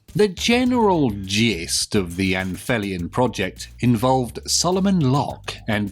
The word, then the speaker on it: Anphelion: Some people like to call it the Anphelion Project, but I think if it was pronounced like that, it would be spelt with an F.